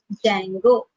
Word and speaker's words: Django: a module called as what dango d is silent if you write the